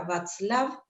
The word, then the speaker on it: Vatzlav: Tenemos en la sala al licenciado Sergio Reynoso y a la licenciada Verónica Václav, si lo pronuncié bien.